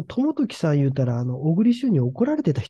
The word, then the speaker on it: 朝時: で北条という朝に時と書いて朝時ですかねその時って読むんですけどもこの人の子供に当たる人がいるんですねそれが 3 つときって言うんですよこのトモトキさん言うたらあの